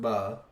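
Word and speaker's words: בְּ: First, Bereshith is an inseparable preposition in front of it, ba, pronounced ba, and this means in or with.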